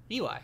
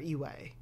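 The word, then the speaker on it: Iwai: How would you say it? EY? EY. Okay, I wasn't sure if it was EY or Eway. No, EY. EY, thank you.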